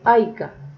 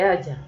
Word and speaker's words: haya: Entonces cuando le hemos dicho a los niños no se dice haya o las personas sino haya, es bueno que recordemos que eso lo enseña el modo subjuntivo en el antepresente.